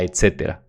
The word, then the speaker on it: etcétera: La filología explica cómo se llegó de la palabra et, caetera, que son dos para empezar, a etcétera, con acento en la antepenúltima sílaba, porque es una palabra esdrújula y bla, bla, bla.